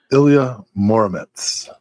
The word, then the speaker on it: Ilya Muromets: The answer is Ilya Muromets. And did I pronounce that right?